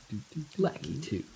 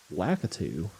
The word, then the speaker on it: Lakitu: Lackey 2. Lakitu. I remember when everyone was like super surprised that that's how you pronounced his name.